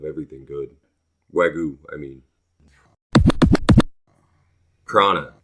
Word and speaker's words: prana: Prana. I think it's pronounced prana with an N, but I could be incorrect. So basically, you mentioned chi earlier.